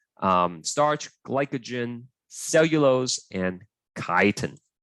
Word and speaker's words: chitin: starch glycogen cellulose and chitin okay not cheaten okay caitanya that's how you pronounce it so where can